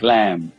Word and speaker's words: lamb: the B is silent like lamb be silent okay uh indite indite